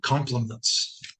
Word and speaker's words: complement: So there are 2 words in English that are pronounced complement. C-O-M-P-L-E-M-E-N-T and I-M-E-N-T. So complement with an E is something that completes something else. That's what we're talking about right now. The other one is with an I, complement. It's pronounced the same way.